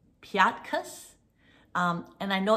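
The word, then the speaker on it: Piatkus: europe but um i don't know how to pronounce her name it's um i think it's called piatus um and i know it's some kind of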